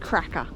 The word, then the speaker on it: Krka: k Ka national park I think it's pronounced cracker cuz it's going to be a cracker of a day we read online that